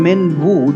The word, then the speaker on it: Minwu: I said two of these so just having min-woo do all the work and make things very